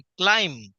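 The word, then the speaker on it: climb: बी क्लाइंब चढणे क्लाइंब आता बी जरी स्पेलिंग मध्ये असले तर त्याचा उच्चार करायचा नाही क्लाइंब ब नाही क्लाइम next C ओ एम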